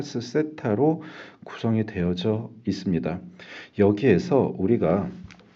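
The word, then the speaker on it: θ: 위상은 페이지라고 얘기를 하고요.요 부분은 세타라고 읽습니다.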